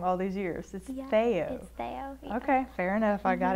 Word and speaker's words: Theaux: I've been saying it wrong all these years feyo okay fair enough I got it now most people say though or there's that mayor who ran or wit